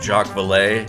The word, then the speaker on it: Jacques Vallée: He's one of the first people who started drawing, other than John Keel and Jacques Vallée.